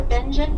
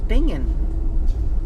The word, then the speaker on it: Bingen: benj coming up for Benin passengers only that's how you say it I thought it was binging b i n g